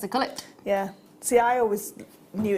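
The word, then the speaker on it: culet: You've got the pavilion going right down to the cullet. Apparently it is pronounced cullet, not coulee.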